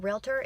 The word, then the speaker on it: realtor: women who know that realtor is a two syllable word that was one of